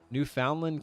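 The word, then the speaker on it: Newfoundland: Edmonton I was right that's the one new new found land land land new found oh I said New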